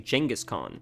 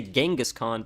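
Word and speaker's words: Genghis Khan: they pronounce it actually jangus con we say genghiskhan but I think they actually pronounce it Jenison is how you're supposed to say it I don't know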